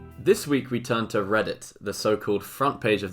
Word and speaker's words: Reddit: I was not actually aware of the fact that Reddit is a pun on I have read it, as in I've read it, which is quite clever when you think about it.